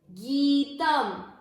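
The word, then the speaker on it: गीतम्: गीतम, बड़ी मात्रा गी की मतलब इसको उच्चारण में ज्यादा समय देना है। गीतम। त के ऊपर जो अनुस्वार है वो है आधे म का।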